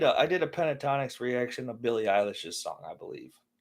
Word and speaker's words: Eilish: So when I did a Pentatonics reaction of Billie Eilish's song, I believe. I've been calling her Eyelash for a long time, Billie Eilish. and people got really mad that I mispronounced her name.